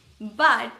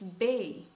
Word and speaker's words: B: It's not B, it's bay.